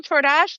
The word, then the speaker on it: Ciordas: Uh Torash, thank you. You got my name right. Um, rhymes with Door Dash.